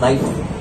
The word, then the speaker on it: knife: नहीं बेटा ये KNIFE होती है, पढ़ने में तो कनाइफ भी है, तो कनाइफ है नहीं बेटा, K साइलेंट है बेटा, तो मैडम K